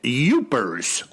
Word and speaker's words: Yooper: Michigan well you know I got the correction from that uh fella who wrote in it's oopers and one said Yoopers so I'm not sure